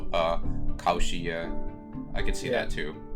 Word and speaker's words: Cauchy: Yeah, they kind of make that pronunciation sound like uh koshi. I can see that too. Yeah, I mean that's a very French name.